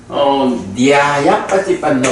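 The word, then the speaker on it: ñāyapaṭipanno: 자, 그 다음에 이제 세 번째는 니아야빠띠빤노 이렇게 나와. 그러니까 니아 요게 발음이 요거는 영어에도 없는 철자거든.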